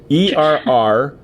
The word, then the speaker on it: Errunhrd: Okay, and it's spelled ERR. Correct me if I screw this up. ERRUNHRD.